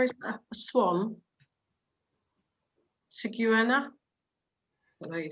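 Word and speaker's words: cigüeña: Ciguena is a swan. Ciguena. What do you say? The only la one there. Ciguena. La Ciguena. Ciguena. Ciguena. Is it a swan? So we've got a nya in there.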